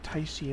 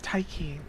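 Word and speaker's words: Tiche: or or TA or taii or whatever but it is taii it is Greek and she's related to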